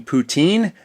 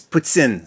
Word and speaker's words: poutine: puts in it so it's almost like the President of Russia puts in puts in it's like put in puts in you didn't like you mean poutine no it's puts in so that's that's apparently